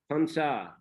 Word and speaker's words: Pansa: And Pansa, actually it is a Sanskrit word, Barsha, but Thais, they cannot pronounce Ra at the end of a syllable. So Barsha becomes Bansa, Pansa, Pansa.